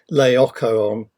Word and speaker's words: Laocoon: Incidentally, there are two ways of pronouncing Laocoon, which is the way I pronounce it. Sometimes it's pronounced Laocoon, but either way, it's